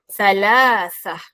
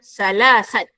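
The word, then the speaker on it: ثلاثة: Ha perhatikan eja ejaan salasah. Nombor tiga. Bukannya sa salasah. Salah ya. Aa sebutan kena betul. Bukannya salasah. Salah. Panjang pendek kena jaga. Salasah bukannya salasat. Oh kenapa salasat? Sebab di akhirnya ada ta bulat, ada tak marbutah.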